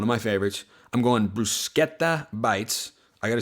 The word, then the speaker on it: bruschetta: I'm going bruschetta bites.